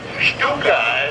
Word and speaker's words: Stuka: S-C-U-K-A, but pronounced Stuka.